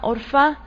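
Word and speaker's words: ערפה: era común en adelante su nombre del original hebreo se pronuncia por fa y literalmente lo traducen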